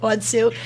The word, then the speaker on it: Monseu: And when you and Stephanie, your co-founder, Stephanie Monseu, am I saying it right? Monseu, yep. Monseu.